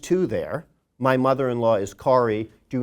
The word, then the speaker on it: Kari: than object number two my mother-in-law is Kari pronounced Kari do not call them Carrie they do care and